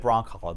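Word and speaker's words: Brzonkala: So Christine Brancala, actually, she said Brancala, the Z is silent.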